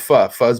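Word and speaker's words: pho: People probably think it's fo, but it's that's how you spell fu. That's called fu.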